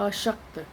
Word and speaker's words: अशक्त: इसी तरह अशक्त, श इसमें है और यहाँ पर आसक्त। बहुत से लोग ऐसे होते हैं जो स और श का उच्चारण एक सा करते हैं परंतु अर्थ में इनके बहुत अंतर है।